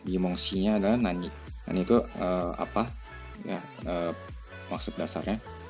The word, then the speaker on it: へ: juga kita menggunakan huruf Hiragana He tapi pembacaannya bukan He tapi E atau e gitu ya sama seperti